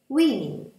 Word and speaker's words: women: A woman, women. Это исключение. Здесь O читается как I.